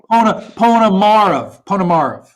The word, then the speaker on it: Ponomarev: But I think it's Ponomarev. Is that right? Almost. Almost. Ponomarev. That's perfect. That's okay. Perfect. Ponomarev. Okay. The middle syllable's been tripping me up.